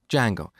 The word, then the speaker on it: Django: So it's spelled with a silent D, and is pronounced django.